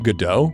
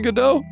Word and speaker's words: Godot: Was it done in Godot? She. Yeah? Yo. Lava learned a new engine? Our little developers growing up. Our little developers growing up. Still a little shithead. I actually believe it's pronounced God OT.